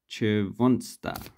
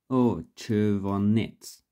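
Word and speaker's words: червонец: Okay, so then we have the Chervonsta and Chervonets. Sorry, I mispronounced it.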